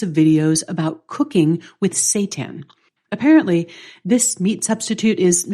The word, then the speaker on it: seitan: Up nutritionally and how do you eat it Satan it's spelled s e i t n is not